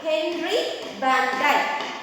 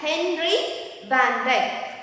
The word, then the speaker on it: Henry Van Dyke: This story was written by an American author, Henry Van Dyke. Henry Van Dyke. Students, whenever you pronounce any word which begin with the letter V, you should not say it is we.